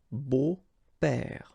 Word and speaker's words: beaux-pères: But then it's exactly the same thing, because you don't pronounce it. Des beaux-pères, okay? Remember the S, but then it's silent.